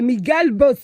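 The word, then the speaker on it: Miguel Bosé: It's pronounced. There's no accent. Anyways, it's pronounced by Miguel Bos.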